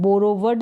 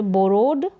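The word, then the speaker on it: borrowed: यहाँ पर W silent आ रहा है, बोरोवड नहीं बोल रहे, बोरोड, बोरोड।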